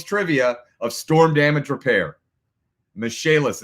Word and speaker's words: Michaelis: Michaelis, it's spelled like the name Michael is. Michael is.